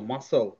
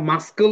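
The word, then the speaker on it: muscle: সিজারস কাচি তাই না মাসল এইযে মাসল মাসল আমরা মাসকল কিন্তু পড়ি না মাসল তার মানে কি সি ওখানে সাইলেন্ট হয়েছে সি যদি সাইলেন্ট না হইতো তাহলে সি এর সাউন্ডটা কি হইতো তাই না তাহলে মাসকল মাসকল পড়তাম মাসকল তো পড়ি না আমরা মাসল সিন সিজারস সাইন্স তার মানে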